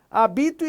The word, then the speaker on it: habito: Quando eu falo habito, eu tenho uma paroxítona, porque a sílaba tônica é a penúltima. E eu não acentuo as paroxítonas terminadas em O. Então, essa aí não tem acento. Agora, hábito, aí eu já